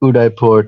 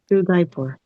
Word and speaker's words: Udaipur: No, there is no H. Yeah, that's that's that sounds more like it. Udipur. Udipur.